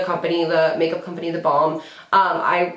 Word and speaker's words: balm: b a l m I always like feel like I'm pronouncing it like bomb like b o m b like bomb like but I'm saying balm balm and balb Balm it's